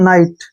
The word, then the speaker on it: knight: यहाँ पर फिर से एन के पहले के आया है तो के का उच्चारण नहीं करेंगे।